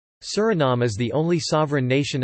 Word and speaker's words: Suriname: In Dutch, the official language of Suriname, the pronunciation is Suriname, with the main stress on the third syllable and a schwa terminal vowel.